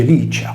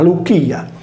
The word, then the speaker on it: Licia: il nome alla Lucia tale cronimo non si legge Liccia come pronunciato in italiano o in latino ecclesiastico ma luia nella guerra persiana condotta